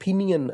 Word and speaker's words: Pinyin: Phonetic system जो है इसको हम फिनियन सिस्टम कहते हैं। लिखने को तो वो PINYIN है, लेकिन उसकी जो प्रोनाउंसिएशन है वो चाइनीज़ में फिनियन है।